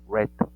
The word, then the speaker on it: read: cómo son en pasado vean el mismo read se queda pero en pasado se pronuncia como el color rojo red Listen se le agrega